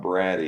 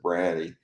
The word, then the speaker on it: Brady: speech given by tom brady it looks like brady but they actually pronounced it bratty um and anyway byron